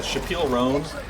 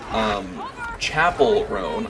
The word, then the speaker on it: Chappell Roan: It was said Chappelle Roan, Chappelle Roan, I know, why am I saying Chappelle? God damn you, Dave Chappelle. Chapel Roan, I'm so sorry. I've been saying her name wrong this whole time.